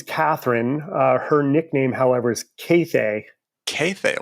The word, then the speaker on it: Kathe: Only 2 long A's, Cathay. Cathay. Interesting. Now, where does that come from? It originates in Hungary/Austria, where her father grew up. And instead of saying Kathy, they say Cathay. It's spelled Kathe. There are no accents over any of the letters.